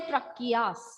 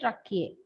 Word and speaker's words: tracheae: Trachea is one, tracheae is plural. Okay, ma'am. we don't say tracheas, we say tracheae.